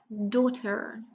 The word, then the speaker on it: daughter: And daughter, which is one of the first words that we learn where the GH is silent.